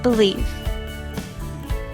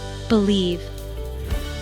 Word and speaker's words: believe: 2 syllables. Stress on second syllable.